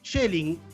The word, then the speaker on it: Schelling: por supuesto, porque ya está conectado, a Schelling, que creo que lo estoy pronunciando correctamente, él me va a corregir, que